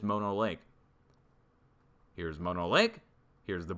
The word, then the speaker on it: Mono Lake: Let me show you Mono Lake, and I've been saying it wrong this whole time. It is Mono Lake.